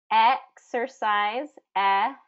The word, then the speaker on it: exercise: Exercise, short and then there's a R vowel, exer, and then size, size, long I there.